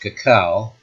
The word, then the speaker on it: cocoa: leaping through the Encyclopedia Britannica page 628 reveals Koko more properly pronounced cacao is a valuable dietary substance yielded by the